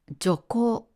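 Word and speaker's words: 徐行: これは徐行と読みます。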